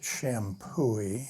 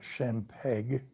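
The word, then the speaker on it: Champoeg: I'm told you pronounce it Champooey and not Champeg.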